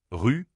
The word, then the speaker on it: rue: Prends le mot ru et répète-le plusieurs fois à voix haute. Ensuite, fais la même chose avec roue. Répète rue rou rue rou. Tu senses la différence ?